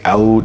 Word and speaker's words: oud: say it over in the Middle East is they say out they they don't say oud now if you guys